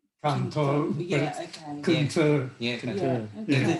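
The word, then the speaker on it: Cần Thơ: And then Cantor, it's spelled C-A-N-T-H-O. So people often call it Cantor.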